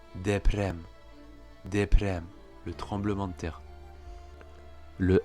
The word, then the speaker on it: deprem: Alors que s'il est au milieu d'un mot, il sera davantage roulé, comme on le voit dans le mot deprem, le tremblement de terre.